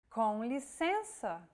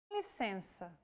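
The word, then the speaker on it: com licença: out through the nose imagine you're humming with your mouth open and add the E vowel sound to it and now you try and again and altogether it's Conley Sensa on a daily basis Brazilians tend to drop the first word saying simply sensor and what about showing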